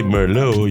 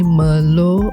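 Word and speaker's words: Merlot: So we say you don't pronounce the t and then the e r meow.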